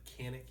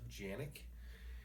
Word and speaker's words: Canik: We pronounce it Canik here in the United States. I believe in Turkey it's pronounced Janik, and it refers to a region in Turkey.